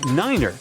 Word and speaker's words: niner: Tree stands for three. Five for five and niner is used instead of nine.